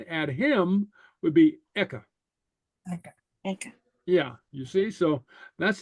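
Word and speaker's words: aice: The difference in the pronunciation between the two, eka and echa, is echa the at her, hers. You have a little breath in between. It's like this, echa.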